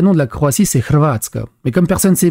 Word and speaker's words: Hrvatska: Déjà, la langue française est pénible, mais la Croatie, le vrai nom de la Croatie, c'est Hrvatska. Mais comme personne ne sait prononcer le H de Hrvatska, ils mettent Hrvatska, donc Croatie.